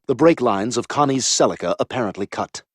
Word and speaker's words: Celica: The break lines of Conniey's Celica apparently cut. Oh, that's why it's called that and that's how it's pronounced. I thought it was like sciatica or Cecilia.